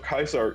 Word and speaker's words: Caesar: the Roman legions, but the pronunciation of Kaisar is because the survivors saw like Caesar's Palace in New like in Vegas and said Kaisar like pronouncing it wrong like because they read it wrong.